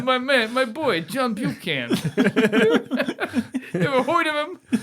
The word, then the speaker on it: Buchan: I want to say Buchanan, but it's not Buchanan. It's Buchan. Buchan.